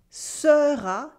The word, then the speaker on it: sera: The weak unstressed E sound get skipped a lot in French. Here, for instance, we have this weak E sound in the middle of words. Sera gets pronounced sera, sera, sera.